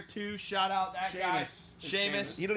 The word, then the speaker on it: Sheamus: And doesn't even know how to pronounce Sheamus. Saying Sheamus cuz I'm just No, his name's Sheamus.